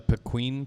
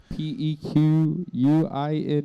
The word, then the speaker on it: pequin: what is that pequeen p e q u i n e u i n u i n p q u i n pin so pequin instead of penguin yeah the pein